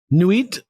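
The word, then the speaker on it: Nuit: And now the document we're working from says he named her Newit after the supposed star goddess in the book he just disowned. Nit like n ui t like knight in French.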